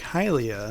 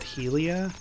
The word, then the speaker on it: Hylia: where Lake Kylie is like hylia now that I say that out loud another name I did not pronounce correctly like I said Helia like Ilia like halia something like that house um link is